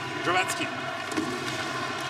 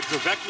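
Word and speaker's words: Dravecký: the moment by Vladimir Dravatsky. Kind of funny to see Slovak names been anglicized in North America. Dravecki, of course, would be the North American pronunciation.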